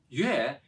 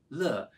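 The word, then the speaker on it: 乐: Although pronounced differently, the written character yue, meaning music, is the same as the written character le, meaning joy.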